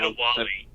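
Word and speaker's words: Adéwalé: I can't remember how to pronounce his name. Adawali.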